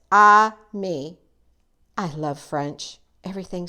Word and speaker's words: ami: say friend in French the word is Ami my mom says you say it like this I me I love French everything